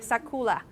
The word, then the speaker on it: sakura: que you are a so most of my American student would pronounce it is yes but when in fact it's more like sekula it's kind of an